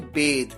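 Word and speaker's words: bathe: बिड बेड बिडनल नहाना जिसे आप कहते हैं बेद देखिए नहाने के लिए यूं तो हम बाथ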